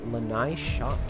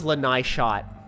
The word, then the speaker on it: lanaishot: I always thought it was lanaishot. I always thought it was lanaishot. Lana is hot. Yeah. Oh my! I'm so dumb. That is obviously how to pronounce it.